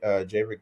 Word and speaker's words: Javerick: You can find me Javerick Jones. It's just my name, Javerick Jones, Javerick, Jones, Jones. So it's spelled like Maverick, but with the J instead of M.